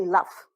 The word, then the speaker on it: laugh: So you say laugh, okay?